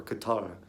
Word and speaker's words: Qatar: able to say it a true correct way which is more like guitar or Katara you know something like